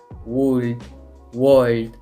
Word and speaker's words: would: Fíjense, podemos ver que este se escribe W-O-U-L-D, pero no vamos a decir cosas como would, would, ni cosas como esas, sino que en lugar de eso, la manera correcta de pronunciarlo es would. Fíjense, es como si no existiera ni la O ni la L.